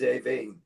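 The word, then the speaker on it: Aoibh: Like my niece, her name is Avine. Yeah. Right? So, and it had the pronunciation of Irish names, the way you should phonetically sound them. Avine, right? But AIOBH doesn't sound anything like that.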